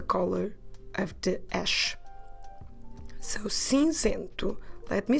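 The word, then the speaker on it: cinzento: so it's the color of the ash so since into let me spell it for you to help you c e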